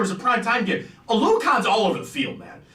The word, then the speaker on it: Oluokun: That is 2nd in the NFL for Oluokun. That's how you say his last name.